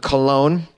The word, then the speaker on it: Cologne: The Archdiocese of Cologne discovered, it's funny how we pronounce it Cologne, but it really looks like Cologne. What is that G doing in there?